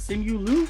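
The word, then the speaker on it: Simu Liu: character though the film was sami was it simulu that's how you pronounce it yeah who played sean chi and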